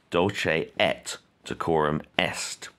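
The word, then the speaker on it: Dulce et decorum est: you don't pronounce sorry you do not pronounce it like french you don't say dolce a quorum you pronounce your tease dolce et de quorum est a big question always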